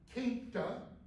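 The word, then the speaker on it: queynte: This comes from a Middle English word, quinta. You don't pronounce the U like qua, okay?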